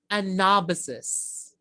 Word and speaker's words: anabasis: Anabasis. My favorite word. Anabasis. Okay, say it with me again. Anabasis. Okay, it's anabasis, not anabasis. Okay, anabasis.